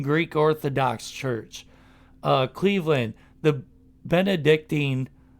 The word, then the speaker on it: Benedictine: Cleveland, the Benedictine, is that right? It's pronounced Benedictine. My high school played against them.